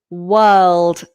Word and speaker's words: world: And then the word world. This is such a tricky one for so many students. I have spent so much time working this word for people. Again, this is the vowel. Ignore the R.